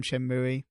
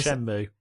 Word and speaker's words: Shenmue: Because it's from Shenmue.